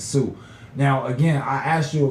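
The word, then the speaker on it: Sioux: older than me that said the Sue X Indians instead of the Sue Indians when the real pronunciation is Sue now again I asked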